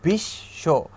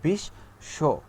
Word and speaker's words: বিশ্ব: যেমন বিশ্ব, এই লাস্টের স আমরা কিন্তু বয়ের উচ্চারণটা করি না, ঠিক আছে, এটা হলো অন্তস্থ ব, এই বয়ের উচ্চারণ আমরা করব না। আমরা কি করব, ব যার সাথে আছে, ব যার উপরে আশ্রয় করে আছে, সেই আশ্রয় দানকারী বর্ণটাকে আমরা দুইবার উচ্চারণ করব, অর্থাৎ বিশ্ব, ঠিক আছে।